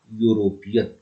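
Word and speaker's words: European: यूरोपियन। तो pronunciation इसका consonant जैसा है, इसलिए यूरोपियन के पहले ए आता है।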